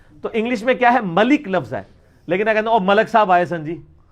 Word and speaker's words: ملک: آپ اپنے جو ملک صاحب ہی کہہ رہے ہوتے ہیں نا, ملک صاحب, حالانکہ لفظ ہے ملک.